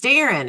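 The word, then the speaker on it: Deron: It is funny that you married a white man whose last whose name is spelled D E R O N and it's a Darren.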